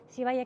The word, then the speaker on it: Zivaya: entonces vaya aaya siaya cierto as está bien pronunciado sivaya que se encuentra en la ciudad de otavalo